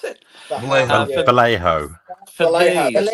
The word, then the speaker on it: Vallejo: Is it Vallejo? How do you pronounce it? Vallejo. For Vallejo. Vallejo, these. that's it. Vallejo.